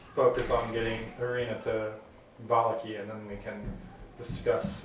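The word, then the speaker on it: Vallaki: I say at the very least, try and get Arena to, how do you pronounce it? Valaki? Valaki.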